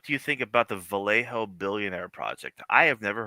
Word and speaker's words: Vallejo: Is it Vallejo or like pronounced Vjo? But it looks like Vallejo. I've always pronounced as Vallejo.